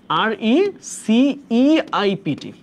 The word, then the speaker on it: receipt: রিসিট বানানে ইটা আগে আইটা পরে, উচ্চারণটা এরকম হবে RECEIPT, RECEIPT।